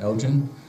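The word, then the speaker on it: Elgin: general goods store in Elgen I think that's pronounced right isn't it Elgen Elgen thank you and I said I've never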